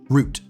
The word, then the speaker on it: route: You see, in Britain, this word is almost always pronounced the same. Root rhymes with boot. In America, it can be root or route depending on how the word is used.